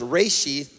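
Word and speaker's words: רֵאשִׁית: first fruit is a Hebrew word and it's pronounced reishi so offerings Ray sheath and ties it means the first in place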